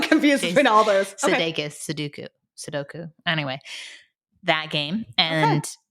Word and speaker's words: Sudoku: Sudoku? Sudoku. Yeah. Easy, medium, hard. What's that author? What's that actor's name? Which one? Jason. Sudeikis. I get real confused between all those. Sudoku. Sudoku.